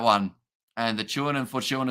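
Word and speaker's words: Fortuin: and the chewing and Fortune is pronounced like time uh in stone really okay I'll keep that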